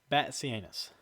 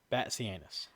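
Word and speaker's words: Batzianis: his name it is it is spelled b a t z i a n i s but it is Banus bat anus Banus okay so and um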